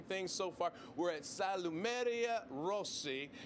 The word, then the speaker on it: Salumeria Rossi: We're at Salumeria Rossi, correct? Did I get that one right? Okay, very good.